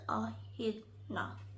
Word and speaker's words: echidna: The echidna, pronounced echidna, also called the spiny anteater, looks like a porcupine.